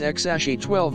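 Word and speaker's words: X Æ A-12: name he noted that the pronunciation of the name was exashi 12 musk and that the name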